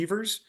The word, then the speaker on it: Evers: Evers is pronounced with a long E. That's the correct pronunciation. Some people say Evers, but he was Johnny Evers.